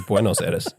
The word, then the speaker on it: Buenos Aires: He was top 4 at the Buenos Aires special event as well. Buenos Aires. Can you say that again for me? Buenos Aires. Oh, it's Buenos Aires.